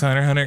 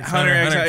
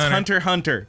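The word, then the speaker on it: Hunter × Hunter: Hunter x Hunter. Hunter x Hunter. It's not Hunter x Hunter. It's Hunter Hunter.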